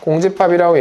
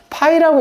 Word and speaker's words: 공집합: 공집합이라고 얘기를 하고, 요렇게 표현을 하고, 읽을 때는 뭐라고 읽어, 저거를? 배운 사람 없어? 없어? 그래, 그럼 공집합이라고 읽어요. 알겠죠? 아, 왜 그러냐면은 니네들이 좀 잘못 배우는 애들이 이거를 파이라고 읽는 애들이 간혹 있어. 아, 그렇게 알려주는 선생님들이 간혹 있어. 그러지 말라는 거야. 파이가 아니야. 파이는 이거야. 이게 파이야. 그래서 파이 아니야. 이거 파이라고 알려주는 선생님들이 있어서 그래. 아니야, 이거 노르웨이어에서 나온 거야, 이거.